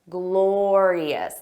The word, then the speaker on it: glorious: it was a glorious notice that pronunciation glorious there are three sounds glor eus glorious repeat after me glorious